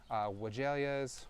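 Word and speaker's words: weigela: You can do it on some of your other shrubs like spireas, wagalias, or wagalia, depending on however you want to pronounce it.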